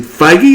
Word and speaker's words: Feige: And Kevin Feige, is that how it's pronounced? Yeah.